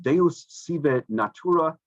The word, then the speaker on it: Deus sive natura: Spinoza's famous line was in Latin, and I don't read Latin, but I think it's pronounced Deus sive natura, which means God, and usually it's translated as God, comma, or nature.